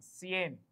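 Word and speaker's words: cien: वन इज 100 सो 100 इज सी आईई एन सीन सीन इ 100 सी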